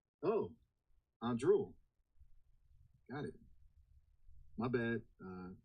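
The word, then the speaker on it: Anduril: Andrul. A n d r u i l. Oh, Andrul.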